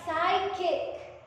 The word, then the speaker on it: psychic: Then we have psychic.